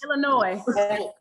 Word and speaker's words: Illinois: Illinois, no S. The S is silent. Yeah. St. Louis this is. Illinois.